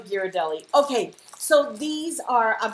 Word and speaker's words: Ghirardelli: Is it Girardelli or Ghirardelli? Oh, I probably butchered it. No. No. I I really want to know. You're right. It's probably Ghirardelli.